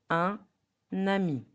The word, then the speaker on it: un ami: So, the real pronunciation, the right one, will be un nami.